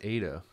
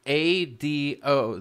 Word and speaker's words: Ado: I thought it was Ada. No, I was just told in chat I was pronouncing it wrong this entire time. I'm pronouncing it Ado, dude. Like, A-D-O. The A is strong. Ado. Because the vowel comes two letters afterwards. Ado would be like A-D-D-O.